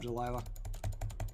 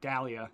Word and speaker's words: Dahlia: Nice stab, Delilah. I think that's how... Dahlia. Dahlia. That's how you pronounce that.